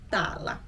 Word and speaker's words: täällä: So sometimes in Finnish people get lazy, and instead of pronouncing the whole word, they will just chop off the end. So that's why you might hear both täällä or täällä to mean the same thing.